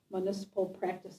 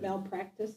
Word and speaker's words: malpractice: Do they carry municipal practice insurance? Is that how you pronounce it? Yeah. It's malpractice?